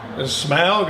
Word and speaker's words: Smaug: How do you pronounce that even? Smaug? Smaug, okay.